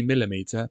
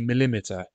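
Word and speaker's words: millimetre: it would be centimeter it wouldn't be millimeter it would be millimeter and so on and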